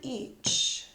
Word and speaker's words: each: In the word each, you see two vowels next to each other. When two vowels go walking, sometimes the first vowel does the talking and the second one is quiet. So here it says each, each.